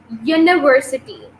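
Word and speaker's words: university: देखो स्पेलिंग देखो, सही है, इसकी प्रोनाउंसिएशन को देखो, यूनिवर्सिटी, यूनिवर्सिटी, ठीक है, वाई से इसकी प्रोनाउंसिएशन करिए यूनिवर्सिटी, ठीक है।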